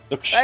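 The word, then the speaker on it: Zhuxin: Nah, the X is pronounced as Sh. Zuxin.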